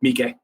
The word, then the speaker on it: Miike: Miike.